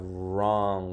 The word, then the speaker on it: wrong: silent K no here we have wrong with the silent w wrong so yeah we do